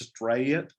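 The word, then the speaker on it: Strait: She introduces herself and in the longest Southern drawl, she says, "I'm Miss Strayet," and that's spelled S-T-R-A-I-T, but she turned it into a 2-syllable word.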